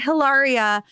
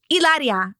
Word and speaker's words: Hilaria: was she was like it's not hilaria the h is silent it's ilaria i'm like she's like